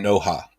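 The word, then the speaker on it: Noha: so but yeah uh prince said pronounce the h in no ha no ha no ha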